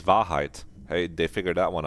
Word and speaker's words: Wahrheit: I would have almost expected it to be like Warhead or something. No, this is Wahrheit.